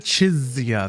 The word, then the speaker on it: Chisa: it too Rover so she kind of pronounces it chisa there's a little more of a a z instead of an s or a C Sound fascinating fascinating when it